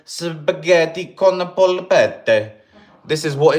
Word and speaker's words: polpette: Meatballs, pronounced polpette, are usually served separately from the pasta as their own dish.